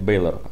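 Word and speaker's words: Bálor: Нет, Бейлор. Ударение на Эй.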